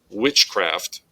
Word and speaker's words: witchcraft: So in this compound word, witchcraft, the word witch gets the emphasis, gets that accent point.